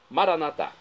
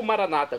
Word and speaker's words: Maranatá: Maranatá. Ou Maranata, como dizem nossos irmãos separados, os evangélicos ou protestantes. Não importa a pronúncia, o significado é o mesmo.